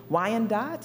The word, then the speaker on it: Wyandotte: Lenape people, the Miami people, the Ottawa people, Wyandotte, is that the proper pronunciation?